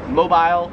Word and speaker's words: mobile: However, in Australia they pronounce it zebra. 29 is mobile, or as they would say it in Australia, mobile.